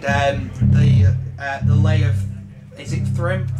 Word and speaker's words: Thrym: Is it Thrym? Thrym, yes. Oh, thank God. At least I know how to pronounce it correctly.